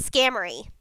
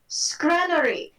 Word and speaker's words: Scrannery: And it's not Scammery, it's like Scrammer. It's Scram. It's SCR am something. I can't say his name correctly. You hear Roguefort in the distance before another clap of thunder go, Scrannery. Scrannery. Think of it like cranberry.